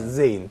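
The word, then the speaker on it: زاي: Well, of course, Zain is different from Zal in a certain way, which is probably Zal is interdental, but Zay here in this way. I think it's probably your tongue is going to exactly lower teeth, going actually.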